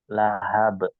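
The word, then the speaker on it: لهب: sekali di huru di ayat ketiga bacanya pakai ha Nah itu Nih pakai ha Nah tadi teteh baca dengan huruf ha ya huruf ha Lahab ya akirnya kita baca dengan Lahab di siniadi saya sudah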